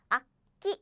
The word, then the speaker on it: 악기: So as I said, is 악기. It's not 악기. It's 악기.